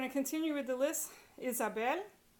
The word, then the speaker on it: Isabel: Isabel ends in a consonant other than N or S. Isabel, last syllable.